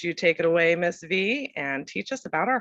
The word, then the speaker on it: Vy: V, pronounced like the letter.